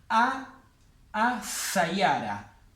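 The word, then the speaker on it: السيارة: Entonces sería a sayara. A, la L no la pronuncio, y la S va doble.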